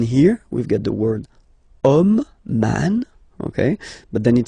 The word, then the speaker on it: homme: we've got the word homme, man, okay, but then it starts with H as in French, H is not pronounced, so the first sound that we hear is O.